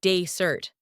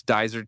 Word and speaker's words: dessert: One time, I asked for dessert, but pronounced it like desert. The waiter laughed. I laughed, but I learned the right way. So, it's daisert tea.